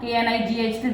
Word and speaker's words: knight: Their pronunciation is exactly same, but their meaning is far different. So that's why the first night is the night that is the Yodha, KNIGHT.